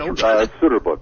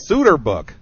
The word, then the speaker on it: Soeterboek: Well, once again, why don't you tell people where they can find out about the Cotton Soeterboek? Am I saying that again right? That's Soeterboek. That's right. Soeterboek.